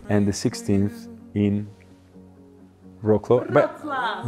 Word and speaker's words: Wrocław: Because, yes, you know, last time we helped you with pronunciation of Wrocław. Wrocław. And the 16th in Wrocław. Wrocław. Wrocław.